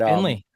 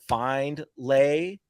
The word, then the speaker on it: Findlay: So that's the name. Finley I love Hats, it. baby. So let it be known. Yeah. Finley for everybody. Yeah. Yeah. Love Yeah, that. but here's the deal. If someone mispronounces it, we don't go out of our way to correct it unless they call it Findlay or Findlaw, which we've had.